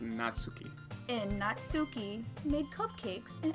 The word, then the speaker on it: Natsuki: bring in a new member that name is pronounced natsuki and natsuki made cupcakes in everything don't make